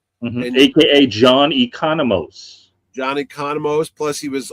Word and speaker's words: Economos: But he was in the Suicide Squad playing the same character, John Economos. We'll have to find out the correct pronunciation of that name because I've heard it said twice differently on the Economos.